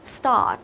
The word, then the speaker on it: start: Đấy, tức là miệng của chúng ta há to ra, càng há to ra thì nó sẽ càng đúng nhiều hơn.